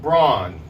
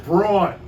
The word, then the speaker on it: Braun: on dell hollow with rick braun did i say it right yes sir your wife said i didn't have enough was it wrong come on give me the new yorker brawn all right hey nice